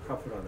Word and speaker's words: half-brother: And this one, the L is silent, it's just half. half-brother, Yeah, so the L is silent.